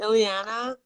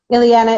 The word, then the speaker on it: Ileana: saying your name wrong is it Ileana Ileana Ileana is really yeah it's an intonation thing they're both fine I think I'll just